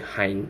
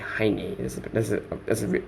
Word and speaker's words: Heine: honey is boy okay I am only saying hind but supposed a high knee or pronunciation but high